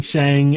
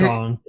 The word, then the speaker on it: Shang: Yeah, like, I got in the habit of saying Shang, and then I found out it's Shang.